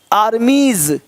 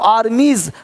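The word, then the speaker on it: armies: ना बॉयज नहीं बॉयज आर्मीज देख रहे हो आर्मीज हल्का सा ज का साउंड हो रहा है देख पा रहे हैं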